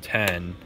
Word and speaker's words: X: the comments guys but I'm pretty sure the iPhone X is supposed to be called ten and it's just spelled with